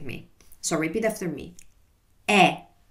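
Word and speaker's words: è: E.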